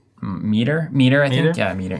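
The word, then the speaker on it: Mitre: Miter? Meter, I think.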